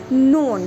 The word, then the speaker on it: known: Known, see the k has come at the beginning of the word and it is followed by n.